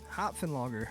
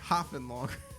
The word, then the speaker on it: Hopfen Lager: Hopfen Lager. Hopfen Lager.